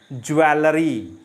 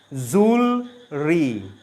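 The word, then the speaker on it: jewellery: Miss pronounce करते हैं, ज्वेलरी, ज्वेलरी। ये गलत प्रोनाउंसिएशन है। इस वर्ड की सही प्रोनाउंसिएशन है जूलरी, जूलरी। सो इट इज़ जूलरी, जूलरी, नॉट ज्वेलरी।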